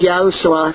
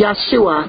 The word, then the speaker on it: Yahshua: there is what one masaq my name is Joshua call me Yahshua but don't take the name you're out and